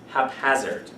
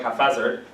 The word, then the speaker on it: haphazard: the word is pronounced haphazard yeah it's uh because when p and h come together hap hazard people go like half and they go like half hazard but it's hap hazard if something happens haphazardly